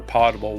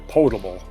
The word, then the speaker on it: potable: to the need for potable water or portable water as it's actually should be pronounced.